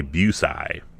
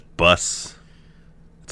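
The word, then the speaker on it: Busey: this name I want I keep want to say buai Gary Bucy but it's bus it's like bus I two like if you had bus and I and you crammed it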